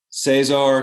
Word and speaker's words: Cesar: language Spanish so sorry the r pronunciation at the is at the end of the name is very strong and then when you